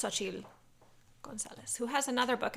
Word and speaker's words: Xochitl: So it's Xochitl Gonzalez, who has another book out that I want to read.